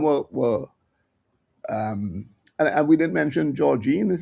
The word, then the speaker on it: Georgine: So some were and we didn't mention Georgine, is how you pronounce her name, who's also introduced at a